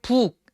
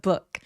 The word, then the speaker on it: book: 북 갈 때 북 아니고요. book 의에 가깝게 발음하시면 돼요.